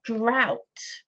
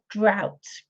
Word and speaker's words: drought: answer here is a drought again strange pronunciation doesn't match to the spelling does it a drought Aleta you've got that